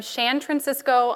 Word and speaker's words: Shan Francisco: I'm Shan Francisco on Twitter. That's spelled Shan, Cisco, like San Francisco.